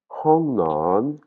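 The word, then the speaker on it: ห้องนอน: Donc, ça va pas se prononcer "on" mais "hong" "hong" comme si je me bouchais le nez, il y a de l'air qui sort avant mon O.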